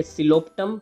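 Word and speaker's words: Psilotum: रहेगा, जिसका एग्जांपल है सिलोप्टम पी साइलेंट रहेगा।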